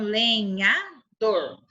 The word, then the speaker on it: lenhador: Aqui na segunda sílaba, nós temos o N, o H e o A. Nós sabemos que o H ele tem um som neutro. O N, qual que é o som do N? Nha, né? Nha. Então, juntando o N, o H e o A, nós temos nha. E aí, dor, né? D, O e o R, or. Tá? Então, lenhador. Cada uma dessas sílabas aqui,